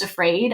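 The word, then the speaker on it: AFRAD: am I calling it the acronym is afraid AF r a d um affective feminist relational analysis of discourse and I'm like that's perfect because it's pronounced afraid I don't know if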